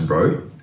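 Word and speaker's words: ρ: from the sample and this symbol here this is pronounced as row and this just represents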